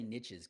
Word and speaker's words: niches: I like to say niches because it rhymes with riches.